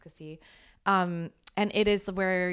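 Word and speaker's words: Cassis: The other one I would say this is actually kind of touristy is Cassie. It's it's spelled C A S S I S but it's pronounced Cassie.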